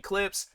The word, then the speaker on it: Clipse: If it would have been Clips, I feel like the E wouldn't have been there. Then I would have called it Clips. But yeah, I'm not going to tell these guys how their name is pronounced or how it needs to be spelled and all this other stuff. It's Clips. But yeah, you know, you